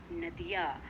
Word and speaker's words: नदी: तो नदी नदिया, ना पे दा पे देखो नदी, नदी पे बड़ी की मात्रा, उसका उच्चारण भी देखो नदी नदी, तब बोलेंगे तो लंबी ई की आवाज आएगी, नदी।